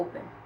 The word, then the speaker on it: open: com a palavra Open chama o open você vai chamar assim op não você vai chamar assim Open Quem é mais forte o o então o o que é sílaba tônica o open tem duas sílabas ouen Quem é mais forte a primeira não é o CVC